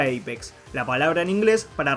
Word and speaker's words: APX: Con respecto al nombre, si bien es apx, se pronuncia apex, la palabra en inglés